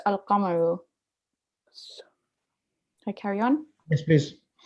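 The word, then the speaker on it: القمر: No such assimilation takes place with the lunar letters, e.g. al-qamaru, the moon, which is pronounced al-qamaru.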